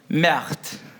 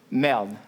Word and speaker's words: merde: Merde. Merde. Merde. Merde. You need to roll your R.